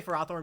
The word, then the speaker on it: Ferrothorn: I just say Ferrothorn because I like seeing people get mad. Even, like, and, you know, Ferrothorn is technically the official pronunciation, because it's what was used at, like, Pokemon tournaments.